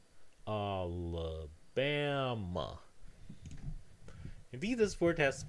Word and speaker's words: Alabama: So in this word, Alabama, the stress syllable is the penultimate syllable, the one that's before the last one, Alabama.